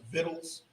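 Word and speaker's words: victuals: food it's like it's the old folks just pronounced vittles he said he means food that's the way it used to be pronounced you know it says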